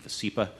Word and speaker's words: Vascepa: Just for pronunciation purposes, we're saying VASCEPA on the slides and during the meeting.